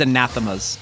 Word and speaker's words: Anathema's: to drive me insane it's anathema's anathemas yes really yeah oh that's